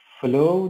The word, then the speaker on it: follow: If you see F-L-O-W, then the pronunciation is flow. But this one is F-O-L-L-O-W.